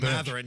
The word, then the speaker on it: Mathurin: Mathurin, yeah. Mathurin, I'm sorry, I always mispronounce that.